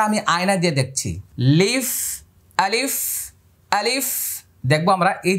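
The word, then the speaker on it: ألف: এবার আমি আবার বলছি আলিফ আলিফ আলিফ আলিফ এভাবে বাতাস বের হবে দাঁতগুলো এখানে লেগে যাবে আলিফ লিফ আলিফ আলিফ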